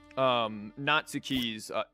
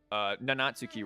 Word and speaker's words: Nanatsuki: card draw cantrip triggering Natsuki's, Nanatsuki rather, not Natsuki, I skipped that a whole syllable.